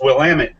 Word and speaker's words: Willamette: The only way I can remember Willamette is it's Willamette, damn it. That's how you pronounce it.